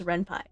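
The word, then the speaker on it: Ren'Py: I pronounce it Renp, but I know it's Renpai, right?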